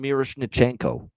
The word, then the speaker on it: Miroshnichenko: schenko there we go Ivan miros nenko is how you say that that's a mouthful but Ivan miroshnichenko that is a mouthful